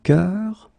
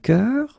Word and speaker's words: cœur: is un bœuf, un cœur. It's actually quite interesting, because even if you write them differently, you pronounce them the same way.